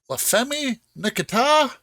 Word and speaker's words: La Femme Nikita: So that's 6 points for La Femme Nikita. That's how it's pronounced in French.